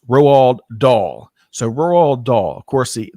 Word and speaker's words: Roald Dahl: thanks for helping pronounce me know how to pronounce rowald doll so doll of course the the um former